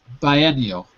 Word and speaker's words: biennial: Yeah, we say this a bi. Bi. Don't ask me. I guess we always say this as a bi, like we say biology, right? Biology. So, yeah, so it's not a bio.